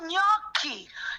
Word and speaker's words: gnocchi: Oh, gnocchi. Gnocchi. Okay. Gnocchi. The GN is a ny sound. Gnocchi. There's a whole bunch of other Italian words that starts with GN. Gnocchi.